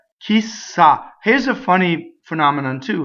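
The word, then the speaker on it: chissà: that phrasal doubling so the word key is a strong monosyllable this is putting together two words key who and who knows right saw she stopped because everybody says kisa right ideal goodbye farewell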